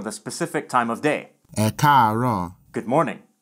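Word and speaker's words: Ẹ káàárọ̀: Note that if there's more than one tone in one syllable, then the vowel is normally written once for each tone. These three A's are all part of a single syllable, but with a high-low-high progression.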